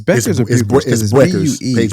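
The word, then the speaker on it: Bueckers: got you so that's PA buers is it's Beckers paers okay that's that's that's how they pronounce it that's all I'm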